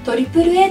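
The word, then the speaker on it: AAA: か映画 3 つ実はこれトリプルへと読みます紅白歌合戦にも死蔵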